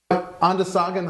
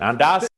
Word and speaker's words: Onondaga: Onondaga High School, class of 84? That's a common mispronunciation. Onondaga School. Onondaga High School.